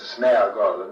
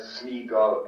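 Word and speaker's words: Sméagol: Despite the spelling and accent, my father himself did not pronounce these names as Smeagol and Deagol, but as Smeagol and Deagol.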